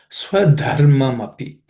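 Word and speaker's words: स्वधर्ममपि: Swadharmamapi. In the first word, Swadharmamapi, the word the second letter, the is an aspirated consonant, so make sure that you pay attention to that.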